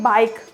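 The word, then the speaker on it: bike: में ई आ जाए तो ई क्या होगा साइलेंट होगा जैसे कि बाइक बाइक बाइक में ये क्या है साइलेंट बाइक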